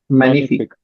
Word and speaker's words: Magnifique: Magnifique. Okay. Magnifique. G is silent, huh?